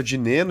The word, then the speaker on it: Dinenno: Pelo que eu vi lá, o certo é de Neno e é mais fácil também de pronunciar, então eu vou ficar no de Neno, viu?